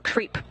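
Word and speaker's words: KREEP: a weird component that we call creep and it's spelled k re e e p in sense of potassium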